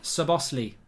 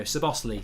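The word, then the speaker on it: Szoboszlai: It's pronounced Sabosli, says Lewis. There you go, Sabosli. So if he scores, his name's Sabosli, number 10.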